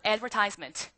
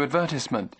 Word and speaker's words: advertisement: 여러분 우리 이 광고라는 말이 토익에 매달 나오는데 여러분들이 아는 발음으로 자 따라하세요. Advertisement. 잘 안 나와. 지금 광고란 발음 어떻게 들으셨어요? Who decided on the color scheme for the new advertisement?